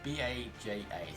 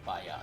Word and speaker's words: Baja: I guess this is B-A-J-A, so I guess it's Baya, not Baja.